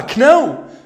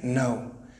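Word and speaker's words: know: كيفاش ننطقوها؟ كنو. Never. جامي تنطقها كنو. لأن الـ K يكون قدامها أن. الكا لا تنطق. K قدامها أن لا تنطق الكا. We say no.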